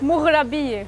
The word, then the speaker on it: Moghrabieh: MOGHRABIEH. I gotta work on my MOGHRABIEH.